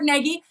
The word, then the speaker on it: Nagi: I've had to ask four times how to pronounce his name correctly so I'm very excited today to bring you mark Negi and a little history on Mark he was